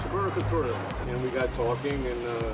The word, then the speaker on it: Sabor y Cultura: I play music in a place called Sabor y Cultura, which is probably, you can say better in Spanish pronunciation. Sabor y Cultura. Sabor y Cultura.